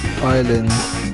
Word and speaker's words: island: Tsunami, T is silent, honest, H is silent, island, S is silent, Q, U-E-U-E is silent.